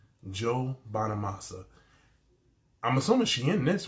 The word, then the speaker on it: Bonamassa: Now it says Joe Bonamassa, right? That's how you pronounce his name. Joe Bonamassa.